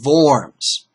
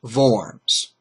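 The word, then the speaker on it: Worms: at the city of forms and I am pronouncing this correct and W's in German are pronounced as V's okay Luther was assured safe passage to and from forms okay so they said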